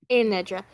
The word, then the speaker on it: Anitra: And is it, how's it pronounced? Aenedra. Anedra.